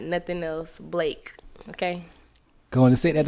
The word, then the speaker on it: Blaque: Going to set that off right then, because, like, you say a lot of people call you Black. Yeah, they be messing my name up. Because how it's spelled, though.